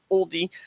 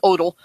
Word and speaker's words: Odell: The Holy Spirit claimed by Pastor Oldie, I pronounce it right, I'm sorry, it's Odell. I don't mean to do that. It was just the first way I pronounced it before somebody told me how it was.